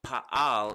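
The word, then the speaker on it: פעל: pain pay ein lamid so pa al is the way it's pronounced for the three letters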